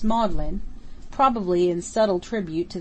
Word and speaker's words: Magdalene: on pronouncing it ferguson at oxford the seat of learning magdalene is pronounced maudlin probably in subtle tribute